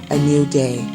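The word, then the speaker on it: ANUDAI: I am in control a n u d a i pronounced a new day this is a tattoo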